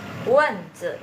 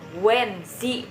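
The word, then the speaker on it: 蚊子: Wenzi artinya nyamuk ya. Nah, bukan, ini bacanya bukan wenzi, bukan ya teman-teman, tapi ini wenzi ya. Jadi i-nya dibaca e gitu ya.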